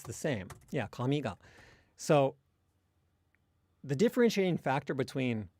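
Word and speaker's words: 紙: But then the word for hair and paper, I believe, are both pronounced low, high, low, with the particle attaching low.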